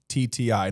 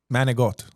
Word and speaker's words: manicotti: Manicotti. Now, some Italians on Staten Island will pronounce that manigot. What do you say to them? They're rimbombito. It's not pronounced manigot.